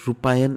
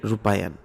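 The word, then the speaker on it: Rupayan: था, दो शहर एक रूपायन इनिशिएटिव। मैंने उसका pronunciation I डिड it wrong, so pardon me for that, right. सो दो शहर एक रूपायन initiative was this, not एक रुपया, राइट, रूपायन, ठीक है ना।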